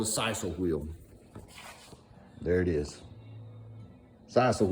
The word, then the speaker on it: sisal: And I think it's sisal, that's how I say it. It's called it's spelled S-I-S-A-L.